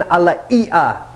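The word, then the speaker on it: alaea: Then we start to get into red salts, and this is a Hawaiian alaia salt, is how they pronounce it in Hawaii.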